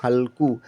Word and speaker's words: हल्कू: Next है बच्चा HALKU, पढ़ेंगे हम हल्कू। एच से तो हमने हॉ लिया, ए साइलेंट, एल से आधा ला, के से का और यू से बड़े यू की मात्रा, हमने लिख दिया हल्कू।